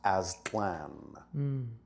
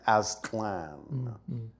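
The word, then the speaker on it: Aztlan: but we know that the actual name in its ancient form was simply pronounced Aslan a z t l n Aslan so are there any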